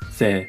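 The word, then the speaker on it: ぜ: Se with the Dakten is pronounced ze.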